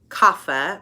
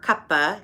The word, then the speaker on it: Kapha: Then lastly, Kapha or Kapha. You'll hear it pronounced differently in different parts of India. Both are fine. Trust me, I've had multiple Indian teachers in my program tell me it doesn't matter if you say Kapha.